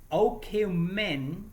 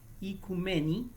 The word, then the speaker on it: oikoumene: Del griego antiguo, oikoumene, aunque se pronuncia en griego moderno, ikumeni, ¿ok?